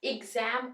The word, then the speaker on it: exam: pronounce हो सकते हैं एग्जाम इग से प्रोनाउंस होता है जैसे देखो ये एग्जाम बोलते हैं हम यहां पे ई से स्टार्ट हो रहा है शॉर्ट ई से इग जम इग जम जम पे स्ट्रेस आ रहा है तो हमने इसको लाउडली